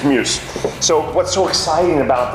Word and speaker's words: MJUS: it's in jus and you try and pronunciate that and I don't know if it takes old mate it's Muse so what's so exciting